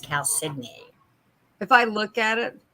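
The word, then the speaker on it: chalcedony: calcidoni that's that right cal sydney damn you cal sydney blue i worked on that one i always thought it was calcium too my mother corrected me and said no it's pronounced cow sydney if i look at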